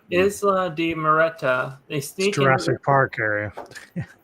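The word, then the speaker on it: Isla de Muerta: So the next day, they're introduced to all the crew members, and they on Isle de Moret. How do you say the name? Isla de Moreta. Isla de Moreta.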